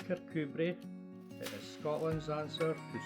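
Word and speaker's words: Kirkcudbright: movie was filmed in The Villages nearby pronounced carcubrey that is Scotland's answer to Saint Ives and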